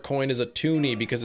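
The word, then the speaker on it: toonie: Because tuni rhymes with looney and the looney came out first.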